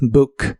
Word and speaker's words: book: El verbo reservar, como cuando hablas de hacer una reservación, en el presente de inglés es book. La doble O se pronuncia como una U corta y explosiva. Book, book.